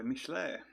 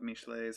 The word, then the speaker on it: Michelet: one um I read Joan of Arc by Michele a name I definitely did not know how to pronounce before I looked it up um this is technically um a chapter out of mishlay's history of France it's written I believe in